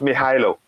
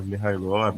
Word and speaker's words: Mykhailo: the odds for the It's pronounced Mykhailo. Yeah, Mykhailo.